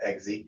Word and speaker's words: Eggsy: That's how you pronounce his name, right? Eggsy, yeah.